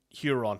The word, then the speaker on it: Huron: How do you pronounce his name, like Huron? Is it the first name, Luft or... It's Luft, yeah. And Huron, yeah.